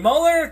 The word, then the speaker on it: Mueller: So when Mueller, it's actually Mueller, I think I've been saying his name wrong. When Mueller comes out and says it, then what?